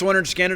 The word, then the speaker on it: Lynyrd Skynyrd: Now, pronounced Lynyrd Skynyrd, I had that on cassette.